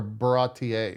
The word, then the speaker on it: Baratie: Barati arc, or Baratier, really is how you would pronounce that as a weeb.